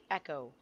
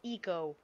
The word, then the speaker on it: Echo: It's like Echo, not Eco. Echo. I'm pretty sure. Because that's how you spell it in real life.